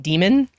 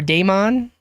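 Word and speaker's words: daemon: how people pronounce it because I've heard this pronounced as like demon or Damon I think lately I've just been saying Damon but both of these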